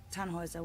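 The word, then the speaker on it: Tannhäuser: why what's your name tanhauser we'd pronounce it taner with an um German Roots yes my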